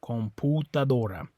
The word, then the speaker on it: computadora: Computadora. Okay. Yeah, in English that makes a U sound right there, right? Computer. But in Spanish it's an U sound.